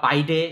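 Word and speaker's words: bidet: এর আরেকটা নাম আছে এটা হচ্ছে বিডে শাওয়ার বা বাইডে শাওয়ার। একেক দেশে একেক রকম উচ্চারণ। ইংরেজি হচ্ছে জেট স্প্রে। এটা সহজ অথবা বিডে শাওয়ার বা বাইডে শাওয়ার। এখানে টিটা কিন্তু সাইলেন্ট।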